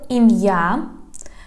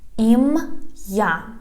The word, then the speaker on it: ім'я: So you just need to make a pause.